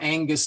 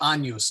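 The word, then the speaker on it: Agnus: and then we have the infamous GN uh it's not Angus day but anus day and on NG combinations they kind of mush them all together and it kind of comes out like an ny sound like in Canyon and then the last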